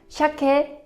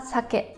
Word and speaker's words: 鮭: Lachs heißt auf Japanisch Shake oder Sake. Ich sage meistens Shake, die Bedeutung ist aber gleich.